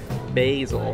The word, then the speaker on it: Basel: at Art basil Miami it's actually pronounced basil art basil is it